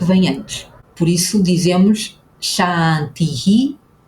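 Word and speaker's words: शान्ति: E a terceira etapa, a terceira dica é que este S com um acento agudo em cima representa aquilo que em português nós escrevemos com ch. É o som do ch na palavra chá.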